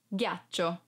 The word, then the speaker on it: ghiaccio: mano 1 2 3 4 5 ghiaccio Eyes ghiaccio speaker for because If You Don't pronounce G as and hardcound like Go e